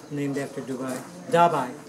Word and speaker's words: Dabai: Dabai is the name. D-A-B-A-I.